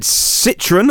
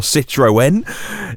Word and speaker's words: Citroën: That would be Peugeot or Peugeot, depending on how you say it, Citroën or Citroën, DS, Opel or Vauxhall, depending on what country you buy those cars in, and it's free to move.